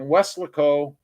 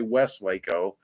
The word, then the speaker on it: Weslaco: Josh says that, again, it's Josh Landon, salesman at Chevy, Payne Auto Group in Weslaco. Hopefully I never pronounce it right. I always want to say Westlaco.